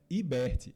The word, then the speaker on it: Iberti: Mas bem, sobre a sua pergunta, a pronúncia correta é Iberti. É porque o pessoal me confunde com um tal de Rodrigo Hilbert.